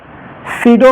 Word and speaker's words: pseudo: गलती हो गया सीरो प एसई यू डीओ होता है सी इसमें प होता है साइलेंट ठीक है सीडो फर्स्ट